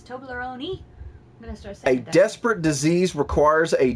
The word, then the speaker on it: Toblerone: this one is it's Toblerone you pronounce the E we all say Toblerone over here but it's Toblerone A desperate disease requires